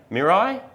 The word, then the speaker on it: Mirai: to you all about the Toyota miray Mirai I don't know it's spelled it's not the mirror m i r a i I like it cuz